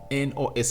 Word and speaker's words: Mykonos: What's the pronunciation of that place? It's Mykonos in Greece, where most celebrities go during the summer to really spend their cash.